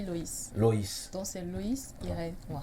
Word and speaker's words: Lois: Bon, c'est vrai que ça s'écrit Lois, mais ça se lit Loïs.